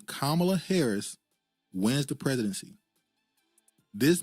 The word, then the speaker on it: Kamala: I'm G be honest with you y'all if camela Harris I'm saying it right now if C Kamala Harris wins the presidency this man will be